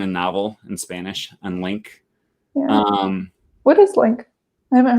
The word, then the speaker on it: LingQ: I mean, we're talking about it's pronounced Link. Makes so much sense. But everyone mispronounces it.